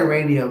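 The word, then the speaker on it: Raidho: I'm saying it right I just say radio because the H I think is silent um I think is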